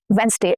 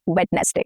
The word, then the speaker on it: Wednesday: Wednesday and not Wednesday. Wednesday. We are shortening the number of syllables here if you notice.